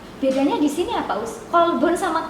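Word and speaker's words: قلب: Kolbun sama kalbun. Mirip nggak? Mirip ya? Sama ya artinya, iya. Nah, Sama atau beda? Kolbun, kof lamba sama kaf lamba. Nah, beda di depannya tapi hampir sama ini pengucapannya.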